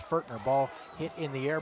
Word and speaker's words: Fortner: Correction on the pronunciation. It's Fortner.